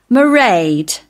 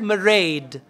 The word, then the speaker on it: Mairead: When she said Mairead, what does it mean? R. It's understood. Okay, so M-A-I-R-E-A-D. Now there R is like R, soft. In British English, R is soft.